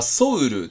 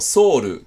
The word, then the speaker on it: ソウル: あるんですけど例えば韓国のこれなんか発音する時はソウルでもソウルでもどっちでも良かったりしますよね